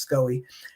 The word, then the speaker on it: SCOE: county office of education often pronounced scoe she's a neo-liberal education